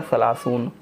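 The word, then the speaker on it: ثلاثون: ठीक है, इसको पढ़ेंगे हम, उर्दू में प्रोनाउंसिएशन होगा 30, अरबी में होगा सलासून।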